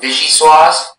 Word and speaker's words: vichyssoise: So we're going to pronounce vichyssoise, vichyssoise, vichyssoise, vichyssoise.